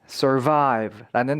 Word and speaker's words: survive: 보실 수가 있을 거예요 포인트는 강세 강세가 뒤에 있다는 거 잊지 말아 주세요 survive입니다 survive 아니에요 survive